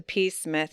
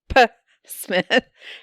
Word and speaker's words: Psmith: say leave it to peace Smith she says leave it to P Smith anyway the p is silent she got it to